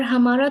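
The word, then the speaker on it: हं: और हमारा थ्रोट चक्र है हम, HUM, हम।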